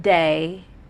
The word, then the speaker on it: DAYH: last name is put the H at the end of day and it's the H of silent and who's going to